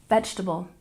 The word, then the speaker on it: vegetable: salmon salmon number 19 vegetable we tend to drop that second second e sound and we stress the first syllable vegetable vegetable and last but not